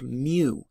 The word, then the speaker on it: mu: second to articulate it for yourself that is pronounced mu it's the mean of a population what is